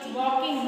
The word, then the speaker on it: walk: है वॉकड, WALKED, वॉकड लिखते हैं हम WAL के वॉल्क होते हैं लेकिन बोलते हैं वॉक क्योंकि इसमें एल जो होता है वो साइलेंट होता है, सीधे वॉक बोलते हैं, ठीक है।